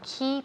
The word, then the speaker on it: key: So a key person, una persona clave. Clave is key. Key, okay, la pronunciación key. No me digáis K. K, no, K, K. Cuando dices K, K es la letra K.